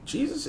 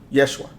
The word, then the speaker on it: Yeshua: I was taught it the pronunciation in the name of Jesus and Jesus is not how it's pronounced I don't know if people know that or people really studied that there's no letter J in the Hebrew language J does not exist Yeshua that's the name um and and